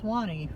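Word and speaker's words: Suwannee: Yes, the Swani River. It's actually spelled s u w a nee e and it has been pronounced swany for years.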